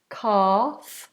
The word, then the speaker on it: calf: leg that L is silent cal cal so we don't want to say Cal it's nice and open Cal or you might